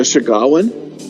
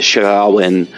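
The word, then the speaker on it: Sahuagin: Oh yeah, and they were very open that the and I always mispronounce this, the Shagawan.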